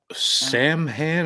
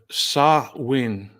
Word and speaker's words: Samhain: mm, Samhain, a Gaelic word, Samhain is a Scott, proper pronunciation.